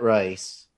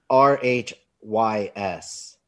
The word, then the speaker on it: Rhys: hold on right yeah matt rice i don't know if that's how you say it so anyway it's r r h y s that's annoying right i think that's rhys as a jeff clark